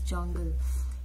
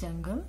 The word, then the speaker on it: Jonqal: of the pattern is Jongle. Yes, although it is spelled like Jonqal, but it is generally called as jungle.